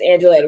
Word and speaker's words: Angeletti: the Italian like a spaghetti. So I always say it wrong, right? I say spaghetti, but it's Angeletti, right?